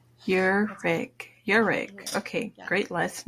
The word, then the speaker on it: Ihrig: pronounce your last name it's pronounced erig like your and then a rig your rig your rig okay great